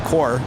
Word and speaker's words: Corps: as well as the Marine Corps corpse is pronounced as core sorry oh well hopefully